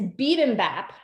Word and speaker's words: bibimbap: And I even looked it up and investigated the history, but it's bibimbap. If you actually look at our wine shop card, it's spelled wrong on there.